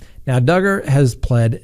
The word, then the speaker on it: Duggar: the docket that's right josh duggar rhymes with hugger well his dark past